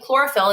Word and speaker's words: chlorophyll: and letter patterns that the k sound at the beginning of chlorophyll is a CH. Well, CH is usually not pronounced that way.